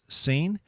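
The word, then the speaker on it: שׂין: similar the first is seen and it's pronounced with an S sound like in sin and I put that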